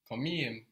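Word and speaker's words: komiğim: The K gets softened to a G, but it gets really softened to a soft G. So instead of komikim, we got Komikim. komiyim.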